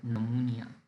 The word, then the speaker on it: pneumonia: dis order is pneumonia p is silent so we call it pneumonia pneumonia is the inflammation oful